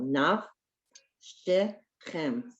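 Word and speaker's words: נפשכם: Okay, and there again, you see the naf, that ends a syllable, and then shechem. So one is a silent shva, and the other one is a sounded one. The first one is silent because it's the end of the syllable.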